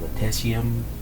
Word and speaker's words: lutetium: It's called lutetium LUTETIUM.